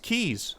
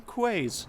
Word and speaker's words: quays: in the bay um these are pronounced keys I think is what a comment said um I pronounce them quaz because I'm sticking to my guns I I don't know um yeah I I tend to read things quite phonetically um but yeah so